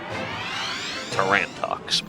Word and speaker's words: Tarantox: Tarantox believe is how that would be pronounced cuz it's play clearly a play on tarantula.